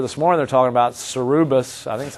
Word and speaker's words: Cerberus: GM is an example where in the paper this morning they're talking about Cerberus. I think that's how you say it. Cerberus. How do you say it? Cerberus.